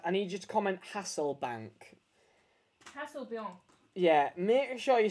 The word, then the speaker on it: Hasselbaink: win this card, I need you to comment Hasselbaink. Hasselbaink. Yeah, make sure you spell it right. You'll be able to see how to spell it on the screen. Hasselbaink. Hasselbaink, actually. Hasselbaink.